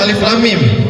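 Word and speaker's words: الم: Cara membacanya dita ditahan. Makanya kita bacanya alif lam. mim. Karena kenapa? Ada hukum idgham mi mimi. Jadi cara membacanya dengan ditahan, bukan alif lam mim atau bukan alif lam mim. Ditahan dua ketukan saja karena mim ketemu mim.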